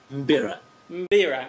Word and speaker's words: mbira: I'm not sure how to pronounce it. That's okay. You did it better the last time. That was really good. Mbira.